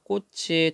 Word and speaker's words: 꽃이: 나주들판에서 정말 소가 웃더라니까 꽃이. 자, 여기는 뜻이 없는 모음이 왔죠. 조사가 왔으니까 그대로 뒤로 넘겨서 꽃이 소를 웃긴 것이지.